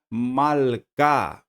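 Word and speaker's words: מַלְכָּה: Mais um exemplo aqui com a palavra malká. Malká. Olha aqui o Shivá debaixo do lamed e eu não estou pronunciando ele também porque ele está sendo precedido agora pelo patar.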